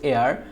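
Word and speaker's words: heir: এরপর হচ্ছে এখানে হেয়ার, এখানে এয়ার হচ্ছে, এটার উচ্চারণ হচ্ছে এয়ার, যার কারণে হচ্ছে এখানে এন ব্যবহৃত হয়েছে।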